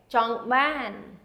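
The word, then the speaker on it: ចង់បាន: And the second part of it is ban. And again, the AH would say ah. Okay? Jong ban. Jong ban. And ban is the accented syllables.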